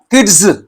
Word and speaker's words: kids: But here in this word, kids, za sound. You cannot say kids. Kids, kid, kids, plural.